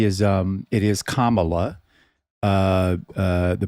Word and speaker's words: Kamala: Well, I think that was a comment, so I uh the only thing I'll say is um it is Kamala uh uh the pronunciation of her name.